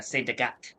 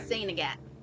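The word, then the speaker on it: Sainte-Agathe: The way we say it in French is Saint Agathe. And it's usually, they don't even pronounce the T in saint. No. It's usually just sane, like Yeah. Saint Agathe.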